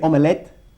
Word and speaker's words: omelette: Se escribe omelette, pero lo pronunciamos como omelette, como dos sílabas.